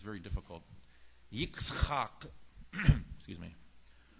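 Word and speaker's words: יצחק: Yitzchak, excuse me. Hebrew is very guttural, even much more than Arabic.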